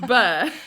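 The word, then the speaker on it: beurre: It's like Burr. It's just Burr.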